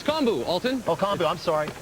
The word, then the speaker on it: kombu: It's kombu, Alton. Oh, kombu. I'm sorry. Didn't recognize it. I've only seen that in its dry form. It's quite large. I can't imagine swimming through that. Kombu is one of the ingredients that's usually combined